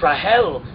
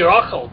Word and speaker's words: Rahel: It's Rahel. I thought it might be Rachel, but you're right.